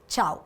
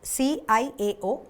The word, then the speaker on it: ciao: So it is pronounced as ciao, C-I-A-O, ciao.